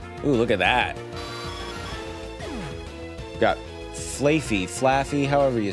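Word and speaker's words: Flaaffy: Flafy.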